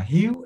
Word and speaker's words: Hugh: is hugh so uh hugh is pronounced like you like hugh jackman but uh but we said it tiger we say you and my name it